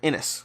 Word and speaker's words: Inis: And then I got questions in the comments like, oh, ISS Vanguard or Inis. Or Inish. I believe it's pronounced Inish. I should probably start getting that right.